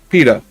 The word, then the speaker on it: PITA: Pain in the ass or PETA. There we go. PETA. Like a pita pocket.